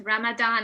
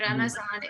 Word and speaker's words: Ramadan: i have used both ramadan and ramazan it's the same thing ramadan is closer to the arabic pronunciation and ramazan is how persian say ramadan basically it's the same thing